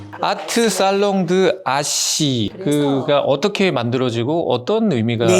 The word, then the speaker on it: H: 아트 살롱드 아시 그가 어떻게 만들어지고 어떤 의미가 있는 건가요? 사실은 저의 이름의 이니셜 H가 어 프랑스 프로로는 아쉬라고 읽거든요.